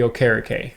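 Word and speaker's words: Okereke: a starter so or Bobby o'kara Kay is how you pronounce his name going back but Darren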